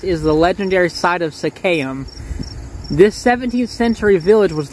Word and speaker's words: Seccaium: probably gonna hear some cars but it reads secam okay i want to start by correcting myself and saying that it's pronounced sakayam you have to remember that i literally found